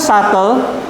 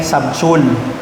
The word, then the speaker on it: subtle: Ito pong salitang subtle, na-discover ko po ito noon una po akong nagturo. No? Okay? Ang pronunciation ko pa dati dito ay subtul. Tapos may estudyante akong nag-correct sa akin, "Sir, that's subtle."